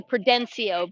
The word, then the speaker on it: Prudencio: number three noah prudencio so it's actually prudencio but prudencio close just gotta get the syllables correct prudencia with the lead